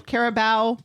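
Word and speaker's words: Carabao: Is that how you pronounce that? Cup match. Yep. No, the Caribou part. Caribou.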